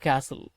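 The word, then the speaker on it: castle: Plate அப்படின்னா ிளே இதோட பாஸ்ட் blade brother means சகோதரன் சரி ஐ பில்ட் நான் கட்டினேன் என்னத்த எ பியூட்டிபுல் சன் கேசில் சிஏ எஸ்டி எல் கேசல் அப்படின்னுதான் உச்சரிக்கணும்.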